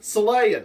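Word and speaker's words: Xelaya: copyright issues because they they spell Celaya with an X so it should be zelaya Zelaya but they still pronounce it Celaya the species are still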